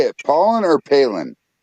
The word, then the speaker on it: Palin: Pollen or Palin? Pollen.